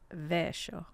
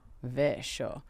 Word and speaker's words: Vescio: As we get Vescio, but how is it actually pronounced? It should be Vescio. Vescio.